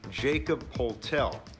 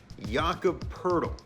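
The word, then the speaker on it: Jakob Pöltl: look at his name you might think jacob poltel but it's jakob pertl jaaka purtle first player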